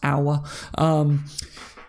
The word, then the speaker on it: Aouar: him that but I've found out state it's pronounced our yeah I believe because Liverpool had Scouts scouting